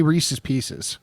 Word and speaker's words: Reese's Pieces: Oh, I say Reese's Pieces.